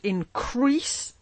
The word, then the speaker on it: increase: loves and comfort should increase emphasis on the last syllable crease loud even one two